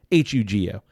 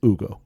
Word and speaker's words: Hugo: Don't really know how it's pronounced. Hugo. We would probably say Hugo, but I think it's Ugo in Italian.